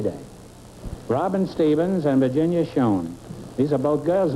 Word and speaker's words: Schoen: Is that the way you pronounce it, Schoen?